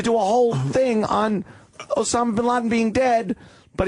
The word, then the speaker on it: Osama: What, Osama? Did he go with the Usama? Well, Fox is Osama. Fox loves saying Usama. Everyone else is Osama. I like Osama.